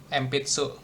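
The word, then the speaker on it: 鉛筆: Jadi bacanya M sebelum huruf P kayak gini nih. Empitsu.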